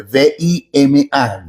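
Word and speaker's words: βῆμα: Se escribe V, v larga, V grande, V i M a. Vima, algunos lo pronuncian V.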